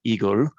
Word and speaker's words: IGEL: december and so um igel is the word in german it's called igor and that is the